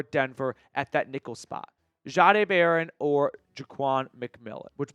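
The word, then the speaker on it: Jahdae: Which, by the way, I don't know if you know this, he has changed the pronunciation of his name. So it was Jade in college and and now it's like a ja.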